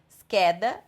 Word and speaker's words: scheda: Agora, quando tiver um H na frente do C, aí é aquela regra da sílaba CHE e CHI. Então, aqui é só no caso de CHE e CHI. Scheda, schiaffo, scherzo.